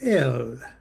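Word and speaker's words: אל: They usually pronounce it L and it's the root of Eloha Elohim, God.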